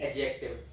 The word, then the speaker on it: adjective: So whenever d comes in between a and j, a और j के बीच में आ जाता है तो it is not pronounced. It will be adjective.